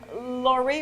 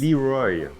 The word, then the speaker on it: LeRoy: is here every day it's open uh philippe laurie or is it lacroix how do you say it in france leroy leroy leroy okay and you know we're